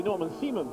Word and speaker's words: Norman Simon: So the German driver, will be Norman Simon, will be the correct pronunciation, now has the lead, and Gino Morbidelli will have 2nd place.